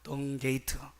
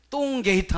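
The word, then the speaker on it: Dung Gate: 얘기하면요 발음을 잘해야 합니다 영어로 얘기하면 덩 게이트입니다 덩 게이트 똥 게이트 하면 안 됩니다 덩 게이트 리즈 게이트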